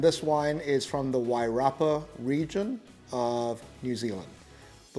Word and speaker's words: Wairarapa: It looks like you should be saying Wairarapa, but it's pronounced Wairarapa.